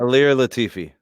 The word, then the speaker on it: Ilir Latifi: First up, Derek Lewis is taking on a brand new heavyweight, Ilir Latif, if I'm saying it right. Now, the only thing I will... Ilir Latifi.